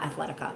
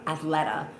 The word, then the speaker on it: Athleta: And I'm like, "Oh, it's cuz I'm not wearing my Athletica, not Athletica, Athleta compression leggings."